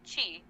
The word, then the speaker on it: qi: It's believed that there's an intricate network of invisible channels running throughout the body through which life energy, or qi, pronounced chi, flows.